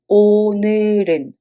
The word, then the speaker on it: 오늘은: When you pronounce it, it sounds like 오늘은 because the 받침 goes up to the following circle position.